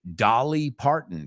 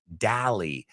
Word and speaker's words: Dolly Parton: Number 2, Dolly Parton, que ya sabemos que no se pronuncia igual que Dally.